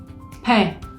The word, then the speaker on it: pain: O bien, si tengo la A, la I y la N juntas, también van a hacer el sonido E, como la palabra pan en francés, pain. Pain.